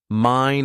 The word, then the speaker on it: mine: Somebody pronounced determined. It does not deter mine, it does determine. Mine is mine, but remember that unaccented word fully.